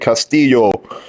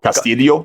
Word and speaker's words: Castillo: they pronounce it like Castillo, and they say by the phone or everything. Yeah. Castillo. Like, I'm not Castillo, I'm Castillo.